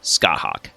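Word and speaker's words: Scáthach: yes here she is scott hawk that is how her name is pronounced if you have trouble remembering it just maybe think of some gigantic bird of prey that likes to play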